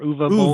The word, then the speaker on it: Uwe Boll: certain about this, but I think you pronounce the W with the V sound, so I think it's Uwe or Uwe Boll. Uwe, yeah, Uwe.